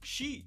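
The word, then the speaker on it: し: isso se deve que a pronúncia número xi é a mesma pronúncia da palavra morte sendo então considerada um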